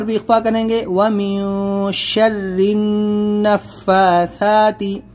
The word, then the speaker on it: شَرِّ النَّفَّاثَاتِ: گے، وَمِن شَرِّ النَّفَّاثَاتِ، یہاں پر اکثر لوگ کیا کرتے ہیں وَمِن شَرِّ نَفَّاثَاتِ، اس کو را نون زیر زن یہاں پر ہم ہجے کریں گے، تو را نون زیر زن، تشدید ہے نون کے اوپر، اور نون کے اوپر تشدید ہے تو غنہ بھی کریں گے، تو وَمِن شَرِّ النَّفَّاثَاتِ،